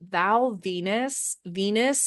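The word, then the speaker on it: Val Venis: and I will say Val Venus as in like the goddess of love, but it's spelled Venus as in penis.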